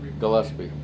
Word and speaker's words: Gillespie: Or Gillespie. I don't know. 6140 Gillespie. Gillespie. Yeah, Hard G.